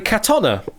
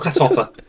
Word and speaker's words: Katona: Well, can reveal that the correct answer is forever from this point onwards, Kerry Katona. Kerry Katona, not Katoffa.